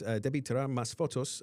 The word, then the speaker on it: Debí Tirar Más Fotos: The Bad Bunny won for Album of the Year for his Debí Tirar Más Fotos album.